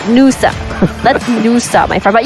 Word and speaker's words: Nusa: Let's Lusa, my friend, not Lusa. Nusa.